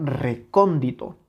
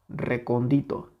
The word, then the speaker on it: recóndito: ante penúltima Okay veamos Dónde tiene su sílaba tónica la palabra recóndito recóndito recóndito claramente la tiene justo aquí en la antepenúltima sílaba okay Porque qué si nosotros le quitamos esa intensidad tendríamos recondito recondito no es lo